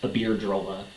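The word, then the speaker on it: Iberdrola: of this Spanish company aard drolla which I kept pronouncing wrong in that other vide so I apologize it's aard drolla spanish-based company rant parent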